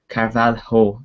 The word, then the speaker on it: Carvalho: United Target William carvalo Carvalho that's your pronounced I think as Louis vanal looks